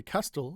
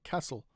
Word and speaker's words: castle: Now in some words the t is silent after an s like uh listen. Okay. We don't say listen. we say listen or castle. We don't say castle, we say castle.